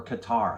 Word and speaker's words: Qatar: 1 million people plus have converged on the nation of Qatar, or Qatar, however you want to pronounce it. Heard it both ways.